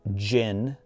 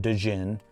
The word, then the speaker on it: Jinn: The Jinn's lamp is pronounced Jinn, not Djinn.